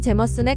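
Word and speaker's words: Jameson: 이름으로 제임스의 아들이란 뜻인데 아이리시 그래는 발음이 제머슨 가깝습니다 제임스는 하이볼 위스키로 인기가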